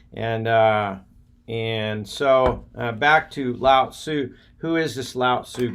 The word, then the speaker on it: Lao Tzu: or a sociology teacher he used to correct my pronunciation of Lao Tzu I'd say Lao su when he say Lao Tzu and that was at st.